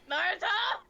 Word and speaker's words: Naruto: Don't say it like Naruto, that! no. Don't say it like that! Naruto.